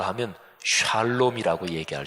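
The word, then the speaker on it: שלום: 하셨습니다 평안한 야 평안이 있을 지어다 히브리 5 발음으로 하면 샬롬 이라고 얘기할 수 있구요 하나님께서 사람들에게 주신 가장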